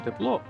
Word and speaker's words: тепло: Я так подумав що куди б ви не поставили наголос у першому слові тепло чи тепло все одно буде правильно це точно знають і